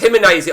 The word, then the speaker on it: Gimnasia: Gimnasia is pronounced Gimnasia.